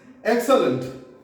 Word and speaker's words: excellent: This is excellent. Excellent. EX से एक बोलना है. एक होता है 1 2 3 4 एक.